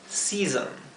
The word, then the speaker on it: season: son The four seasons la dificultad de la palabra season Es que la segunda s se pronuncia como la s zumbada